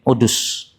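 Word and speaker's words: عدس: Sementara pendapat yang kedua mengatakan Waqi' bin Udus. Wahuwa ashah, dan yang membaca Udus ini lebih sahih daripada yang membaca Hudus. Kenapa? Karena yang membaca Udus lebih banyak.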